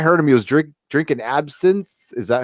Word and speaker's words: absinthe: Last time I heard him, he was drinking absinthe. Is that how you say it? Absinthe?